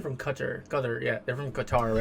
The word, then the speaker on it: Qatar: So this is like, so obviously Al Jazeera is I think they're from Qatar, yeah, they're from Qatar, right? Or Qatar, depending on how you like to pronounce it.